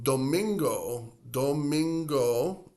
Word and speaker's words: domingo: So domingo, another 3-syllable word. So again, sábado, 3 syllables. Domingo, 3 syllables. So the weekend days, both, they have 3 syllables.